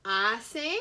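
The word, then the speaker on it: hace: to write that down ase remember the h in spanish is silent okay so i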